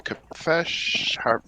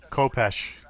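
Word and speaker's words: khopesh: All right, I'm checking real quick for the Kafesh. Well, one more time. How do you pronounce that sword? Is it Kafesh? Kopesh. Kopesh.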